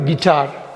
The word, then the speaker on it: guitar: Next வார்த்தை வந்து கிட்டார். இந்த கிட்டார் இசைக்கருவி எல்லாருக்கும் தெரிஞ்சது தான். அந்த யூங்கிறது இங்கேயும் அது சைலண்ட். GITAR எப்படியோ அப்படி தான் அது உச்சரிக்கணும்.